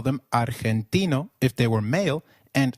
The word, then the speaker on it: argentino: Argentino is pronounced as Argentino in Spanish G when followed by e or I is pronounced like a throaty h so try saying Argentino again Argentino excellent you may have